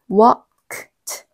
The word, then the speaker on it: worked: 따라서 우리가 발음해야 될 단어는 worked. 4개의 철자가 소리가 나는 거고요. 이름절이 되는 거예요.